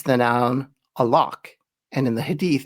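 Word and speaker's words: علق: The Arabic word used is a lock and it ends with a Q. It's a Q sound, not a K in case that's not getting through with my terrible pronunciation.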